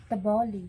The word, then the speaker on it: T'boli: rin po sa amin Pero may anoang correct pronunciation ng blaan blaan t's Ang tiboli TB tboli tboli tapos Ang blaan blaan TB in-explain sa